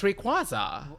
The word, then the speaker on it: Rayquaza: Like I always pronounce it Rayquaza. Rayquaza. What the is Rayquaza? It's Rayquaza.